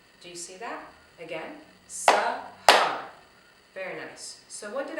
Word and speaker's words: Sahar: My name is Sahar and I have 2 syllables. So 2 syllables translated into clapping. So we're going to say Sahar. Do you see that? Again, Sahar.